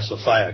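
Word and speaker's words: Sophia: desire and that's why I call Sofia Sofia because it rhymes with desire uh and desire is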